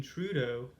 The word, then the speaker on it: Trudeau: So, from my understanding, Justin Trudeau, that's how they say it on the CBC. I would have thought it would be Trudeau, but it's Trudeau.